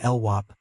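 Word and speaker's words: LWOP: He pronounced the last acronym LWAP, knowing that any cop, just as any criminal in the system, would know it meant life without parole.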